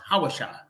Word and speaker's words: Hosea: was Joshua's original name Hosea which is pronounced hawasha but the Bible says